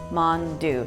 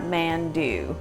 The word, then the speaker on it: mandu: dumplings are called mandu although it's spelled as mandu I'm going to teach you how to phonetically pronounce mon dieu mhan do gue Mon do not mandu and Korean mandu is